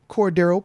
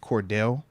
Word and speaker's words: Cordarrelle: being the case we do got to talk Cordo Patterson let me make sure I say Cordo because I did have somebody like as I was pronouncing his name 30 times one of the times I said Cordell like Cordell no no no I was like